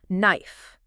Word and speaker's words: knife: And they give some great examples like knife and honest. Yeah, those are classic ones. Yeah. And what's interesting about silent letters is that they often reflect the history of the language.